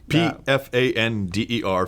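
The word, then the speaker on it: Pfander: cult fender and it's you you do pronounce the P who is my hero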